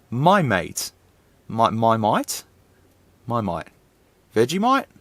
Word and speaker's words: Maimeite: mate i'm sorry it's it's a my mate okay it's no no that's how it would be pronounced my mate my might my might